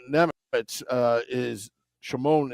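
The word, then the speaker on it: Šimon: haven't confirmed it that Shimon NE uh is Shimon is from Slovakia that's how they pronounce it there whereas Simone G remember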